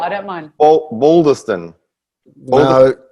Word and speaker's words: Bolderston: Bolderston. No, not at all. Not at all, Barry. Boulder. Think boulder, like a boulder, like a rock. Boulder. Bolderston.